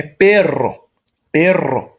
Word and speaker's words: perro: Agora, quando a gente tem dois R's, a gente vai pronunciar de uma maneira bem forte mesmo. Por exemplo, cachorro em espanhol é perro. Você tem que dar aquela estremecida no doble R ali.